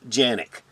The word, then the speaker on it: Canik: sfx rival s yes in Turkey canic is pronounced Yannick but turkey is pronounced turkey in Turkey as